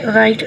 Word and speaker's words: write: इसकी एग्जांपल ये भी है राइट, WRITE राइट. हम डब्ल्यू नहीं पढ़ते हैं, आर से ही वर्ड को शुरू करते हैं राइट.